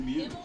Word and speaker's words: Muth: Number 5, Emily Mute. Actually, the way he's pronouncing it's closer to reality. It's supposed to be mute, like the word mute, like Mew. hit the mute button.